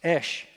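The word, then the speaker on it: אש: Aleph shin backwards is really how you say it. It's esh. And and we'll see that word in somebody's name here in just a second.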